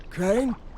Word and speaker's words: Crane: Crane? Crane rhymes with train, and brain, and sane, and grain, and rain, and plane, and the other kind of plane, and...